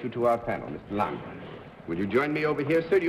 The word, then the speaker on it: Langer: Lang or Langer? Langer. Well, I wanted to get it right, you know. So Lang is pronunciation. Lang would be Lange, the Anglicization of Langer.